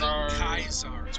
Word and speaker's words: Caesar: Kazar, however you pronounce it. Kaisar. I've heard it pronounced 3 different ways, Yeah. so... Well, I'm kind of going off of the, what the actual, Legionnaires call Yeah, them. they call him Kaisar.